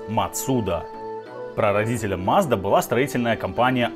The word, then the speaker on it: Mazda: если уж совсем придираться то правильно произносить мацуда прародителя mazda была строительная